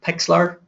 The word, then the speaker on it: Pixlr: Um, we would recommend um a piece of software called Pixlr, which is spelled P I XLR.